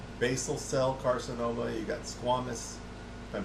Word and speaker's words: squamous: cell carcinoma you got squamous if I'm pronouncing that correctly I don't know Squam cell I've heard it say said pronounced squamous but it looks like Squamish to me but whatever so it's